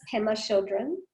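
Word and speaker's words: Pema Chödrön: I'm really bad with pronouncing sometimes. It's okay. Her name's Pema Chodron.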